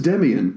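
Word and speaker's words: Demián: That doesn't say Demain, that says Demian.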